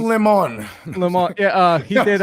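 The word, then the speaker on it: Jack Lemmon: really not john whatever the guy's name is pronounced lemon lemon yeah uh he did uh the odd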